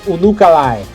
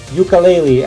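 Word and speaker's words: Unukalhai: It is pronounced Unukalai. It is not pronounced ukulele as somebody on the other YouTube channel said.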